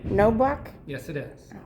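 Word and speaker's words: Knoblauch: If you want my name is Court Security Officer Jim Nobla. That's Thank my you. name. No buck? Yes, it is. How do I spell that?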